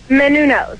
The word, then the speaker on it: Menounos: Pronounce your last name for me. Menounos. Yeah, would you try saying it right? Not Menounos. I don't know what you're saying over there. If you're going to have her on your island, you ought to pronounce it correctly. It's Menounos, David. It's Greek. She's of Greek heritage.